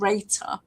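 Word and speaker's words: Rater8: I work with a company called Rater, which is it's spelled R, the number 8, ER, and it's run by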